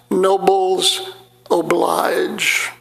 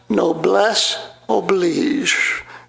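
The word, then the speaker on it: noblesse oblige: the French phrase no bless oblige which I pronounced nobles oblige.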